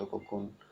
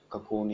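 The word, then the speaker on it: cocoon: The silk from the कोकून, ककून या कोकून बोलते हैं, ककून ज़्यादा प्रोनाउंस सही है।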